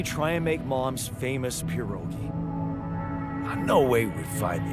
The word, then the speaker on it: pierogi: Her famous pierogi. That's the pronunciation.